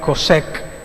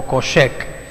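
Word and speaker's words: חושך: la palabra oscuridad es más interesante porque se pronuncia cossec o coche -que y se traduce como ignorancia miseria muerte destrucción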